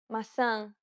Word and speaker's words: maçã: The letters A, E, and O each have an open and closed variant, and many Portuguese words differ only in the openness of the vowel.